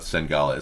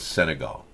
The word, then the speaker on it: Senegal: didn't know I sangawa yeah Senegal Senegal you mispronounced it it's not sengales Senegal thank you and goodbye Sarah's gonna take over